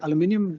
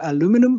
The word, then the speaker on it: aluminium: If we consider aluminium as I I say aluminium but some mean Americans say aluminum but anyway um we